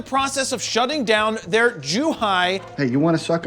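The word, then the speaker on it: Zhuhai: they're in the process of shutting down their jew hi hey you want to suck on this and yes z-h-u-h-a-i is pronounced too high because google told me i checked now before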